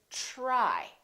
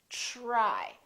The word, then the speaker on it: try: brand new different sound this is true with the letters T and D when they are followed by the consonant R let me explain for example T are why we don't think - Rui it becomes like a chip sound we say try try so the T are together make this sound almost like a CHR almost like but it's a softer one it's to try try so let's look at